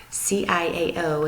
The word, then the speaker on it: ciao: here's how they say hello they say ciao CIA oh and you pronounce it ciao alright and here's the Italian